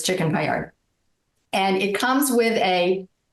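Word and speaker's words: paillard: you about the chicken Payard first of all first of all the word Payard is French and so it's officially a payar because let that D sort of hang and not get pronounced but those of us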